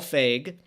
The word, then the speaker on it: Feig: So the director is Mr. Paul Feig. That's how you say his name.